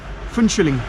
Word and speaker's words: Phuentsholing: Pronounce that. Finchling.